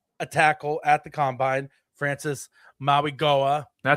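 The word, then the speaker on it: Francis Mauigoa: And yes, so all that leading to that, the Chiefs did meet with a tackle at the combine, Francis Maui Goa. That's how you pronounce it.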